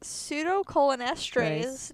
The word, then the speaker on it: pseudocholinesterase: Pseudocholinesterase deficiency, right? That's what it's pronounced.